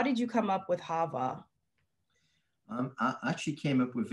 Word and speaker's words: HAVAH: Yes, HAVAH.